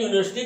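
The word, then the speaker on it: university: ये वावेल जरूर है, लेकिन जब इसका हम प्रोनाउंसिएशन करते हैं यूनिवर्सिटी का तो यू की आवाज़ जो है हमें यहाँ पर वाई यू मिलती है, जो कि व्यंजन है।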